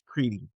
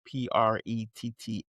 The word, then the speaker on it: Pretti: But Border Patrol agents fatally shot a 37-year-old Alex Preety. I might not be pronounced his name right. It's Pretti.